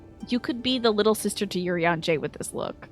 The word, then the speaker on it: Urianger: It's Urianger.